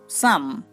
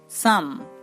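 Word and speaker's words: psalm: Next P এস, এই letter দুটিও দন্ত স sound উৎপন্ন করতে পারে, যেমন সাম। সাম, দেখুন এখানে আমরা পি এবং এস কে পাচ্ছি এবং তার উচ্চারণ হচ্ছে দন্ত স।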